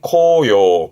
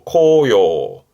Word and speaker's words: 紅葉: 발음은 코요. 코요.